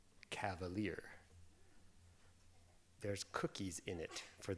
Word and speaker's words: Kavalier: Anyway, yeah, it's Kavalier, and I just was in Nashville some period